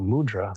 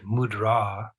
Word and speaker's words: mudra: means in this context the word mudra the emphasis goes on the second syllable it means seal and